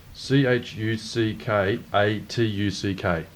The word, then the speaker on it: Chuckatuck: spell it. CHUCKATUCK.